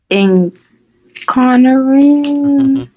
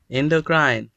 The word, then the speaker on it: endocrine: I know how to pronounce it, but it's incarnarine. Incarnarine. Endocrine.